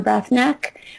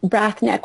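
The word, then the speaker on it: Breathnach: Brath neck which is a difficult word to say but very easy to spell it's Sarah Von Brath neck which is b r e a t h n a c h Simple Abundance and you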